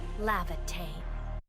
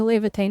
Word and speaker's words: Laevatain: Lavine. Lavine. I've been saying it wrong the whole time. I've been saying Levitane is Lavatane. Oh my goodness.